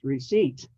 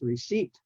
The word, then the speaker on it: receipt: or pronounce it as receipt which is the way it should be but you know because the p is silent it's receip like a a a car seat okay so remember that